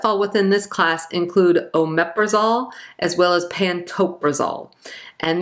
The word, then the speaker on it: omeprazole: So praise, it's not pronounced that way. It's pronounced omeprazole, but it kind of looks like omeprazole.